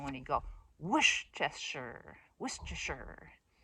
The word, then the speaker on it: Worcestershire: The way you're supposed to pronounce it is put an emphasis on the whoosh. And I like that sound when you go Worcestershire, Worcestershire.